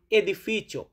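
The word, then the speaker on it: edificio: বলি এটাকে এ বলে ই দিয়ে হয় যেমন এদিফিচো মানে আমরা তো এ উচ্চারণ করব এদিফিচো এদিফিচ শুরুতে এ আছে এদিফিচো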